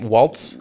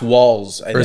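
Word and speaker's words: Walz: you say his name Waltz it's walls walls I think I'm not I'm not sure to the walls yeah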